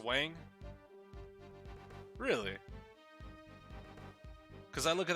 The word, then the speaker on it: Huang: Yeah, it's pronounced Wang. Really? Because I look at that and I just see Huang.